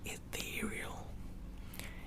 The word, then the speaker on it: ethereal: Ethereal. Ethereal. Ethereal. Ethereal. Ethereal. Ethereal. Also, I had to train myself to pronounce the TH sound like this when I'm speaking in English, because when I say